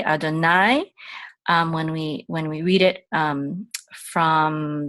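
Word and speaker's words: יהוה: The letters are Yod, He, Vav, and He, and we say Adonai.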